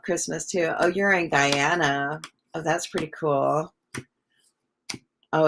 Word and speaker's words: Guyana: Oh, I did pronounce it Guyana correctly.